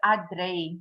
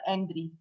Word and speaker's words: Adré: It's Adré, not Andri.